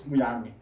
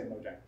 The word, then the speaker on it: Mojang: How is Mojang pronounced? Is it Mojang or Mojang? In the Swedish it's Mojang. Mojang. Okay. But we've been really saying it really screwed it up. I said wrong in the interview. But you said that in English it's okay to pronounce it Mojang? Yeah, I say Mojang.